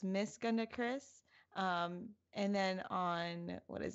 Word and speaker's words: GandaKris: I'm Jesse, or Game Over Jesse, and here with me is a very special guest for the first time, GandaKris. I didn't want to Mispronounced it.